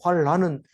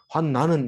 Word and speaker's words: 환난: 것이 말하고 있는 거죠 환난이라고 하는 것은 우리는 난이라고 읽지 않기를 조심해야 되죠 환란은 성경에 없어요 환난은 있는데 환난은 어려울 난자를 쓰는 거고 란는 어지러울 난자 난리가 낫다 그러니까 환난 환하고 비슷한